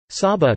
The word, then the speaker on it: Saba: Saba, Dutch pronunciation, Sa-ba, is a Caribbean island which is the smallest special municipality, officially public body, of the Netherlands.